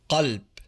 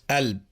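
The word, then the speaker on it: قلب: For example, the word for heart Qalb, becomes Alb.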